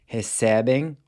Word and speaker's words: recebem: So you have recebo, pronounced with a closed E, then recebe and recebem are pronounced with an open E.